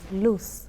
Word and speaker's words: Luz: Um, but really quickly, my name is pronounced loose loose. I'm sorry. Loose like loose change.